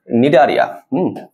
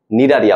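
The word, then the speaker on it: Cnidaria: আচ্ছা, নিডারিয়া তুমি যদি নামটা দেখো, নামটা কিন্তু সি দিয়ে শুরু হয়, হ্যাঁ উচ্চারণের মধ্যে কিন্তু সি নাই, বাট নামটা শুরু হয় তোমার সি দিয়ে।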